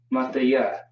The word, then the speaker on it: Mathaya: Mathaya. Mathaya is how you would pronounce that.